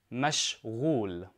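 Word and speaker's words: مشغول: is for a man now make sure you pronounce the rain correctly the rain is a throat letter in Arabic so mesh wool much wool and for a woman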